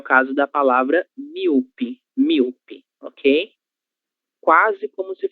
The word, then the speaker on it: míope: Míope, míope. E, normalmente, nós vamos fazer a leitura da letra O, que nós temos aqui, como se fosse um U.